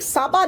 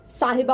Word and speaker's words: साहिबा: बात ये है ए कोई शेख साबा नहीं साबा नहीं होता साहिबा होता है प्रोनाउंस प्रॉपर करना चाहिए इनसे उनको इतना कहें